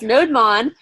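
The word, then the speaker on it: nodemon: oh look node lon notice the two syllables node Mon restarted for me thanks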